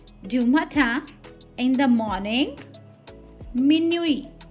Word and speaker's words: minuit: matin, in the morning, minuit. Here T is silent and the meaning is midnight.